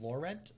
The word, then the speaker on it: Laurent: Now everybody's saying I butchered Laurent Protege, which is another French one. Is it Laurent? Laurent? God, don't do this to me, guys. Please don't. It's Lauren.